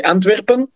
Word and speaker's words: Antwerpen: And yeah, in Belgium we say Antwerpen.